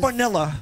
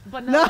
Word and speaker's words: Bonilla: You gotta roll your R's. Not Bonilla. Bonilla.